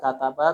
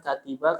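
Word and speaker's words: كَتَبَ: Kalau kataba sudah tahu bacanya walaupun kaf tak ba. Ya enggak? Pasti sudah tahu lah kataba, kalau bukan katiba, kalau bukan katuba.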